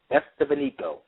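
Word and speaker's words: Estevanico: facts on these shows his name is dude it's spelled e-s-t-e-v-a-n-i-c-o estefanigo and he was from Morocco this is in 1500.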